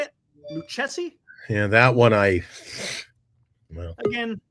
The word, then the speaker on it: Lucchesi: how you say it thank you Ace it's liey so we're gonna talk about santand there we're